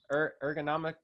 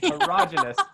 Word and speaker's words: erogenous: Yeah, I think anything that got to like, I can never pronounce this word, ergonomic, not ergonomics. I was like, I don't think. Erogenous zones. Any erogenous zone.